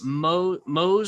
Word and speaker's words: Mohs: What about you mentioned earlier in the program the procedure for Mohs surgery? Is that the right way to pronounce that?